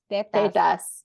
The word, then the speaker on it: tetas: Tetas. You have to say it like the Spanish say it.